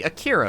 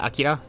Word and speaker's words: Akira: Isn't the emphasis on the first letter? Well, like Akira? Yes, but it, like... calling it Akira in the middle of the sentence with my accent sounds really strange.